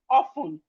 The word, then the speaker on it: often: We have often. The T in often is silent.